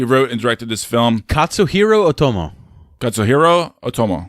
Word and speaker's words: Katsuhiro Otomo: so this guy's smart this filmmaker you know kiss arroyo Otomo i'm trying to pronounce that he wrote and directed this film Katsuhiro Otomo that's a hero Oh Tomo there you go